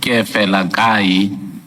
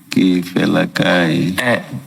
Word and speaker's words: Keefalakae: So you don't enunciate the second E. Can you please pronounce the surname? The surname is pronounced as follows: Keefalakae. Keefalakae.